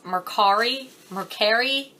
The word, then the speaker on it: Mercari: I don't even know how you're supposed to pronounce it. I believe it's MoreCarI, something like that.